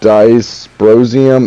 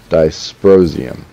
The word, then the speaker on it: dysprosium: commented on the what makes them change it's disprosium you have to pronounce it dysprosium i'm sorry i would assume i would pronounce